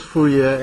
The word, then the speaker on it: Fourier: Can you pronounce Fourier in French?